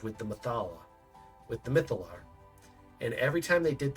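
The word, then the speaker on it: Mythallar: siphoning it through the mythaler. Oh man, I always pronounce it like that. Ah, the mytholar.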